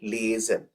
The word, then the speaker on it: liaison: Next word है लिएजन। इसकी spelling भी पूछी जा सकती है, याद रखिएगा।